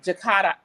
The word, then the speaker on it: Jakarta: So my first guest is Miss KaNikki Jakarta. No, you have to pronounce this for me. Jakarta.